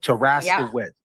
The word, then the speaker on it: Taraskiewicz: Like Taraska, W-I-T-Z. Oh, okay. Wicz. Taraskiewicz. Okay.